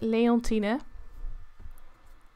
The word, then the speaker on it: Leontine: are not touch so you pronounce it like leontina so that's how you